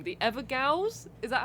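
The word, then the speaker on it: Evergaol: The Evergals, is that how you say it? I think is it ever jail? I think it's pronounced jail. It's like an old Oh. school way of spelling jail.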